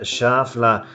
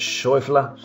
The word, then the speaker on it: Schauffele: amazing swing from xander schaffler in german i think you pronounce it shuffler and uh well this